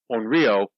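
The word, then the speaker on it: Onryō: that word this it's a long o the the line over the top the o means that you hold it a little bit an AR on Rio is a vengeful ghost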